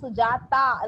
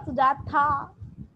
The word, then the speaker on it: Sujata: इट्स सुजाता, नॉट सुजाता.